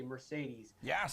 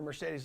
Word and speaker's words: Mercedes: Mercedes loved that word because there's 3 E's pronounced differently.